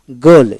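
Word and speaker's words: ghoul: উচ্চারণ হার একটাই উচ্চারণ হবে না একটা ই উচ্চারণ হবে না যেমন জি আই গি জি আই গি এভাবে তারপরে আসেন গল জি এইচ ও ইউ এল গোল তার মানে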